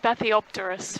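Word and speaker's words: Bathypterois: as they detect something swimming by them it's pronounced bathiopterus for those who are interested yeah thanks john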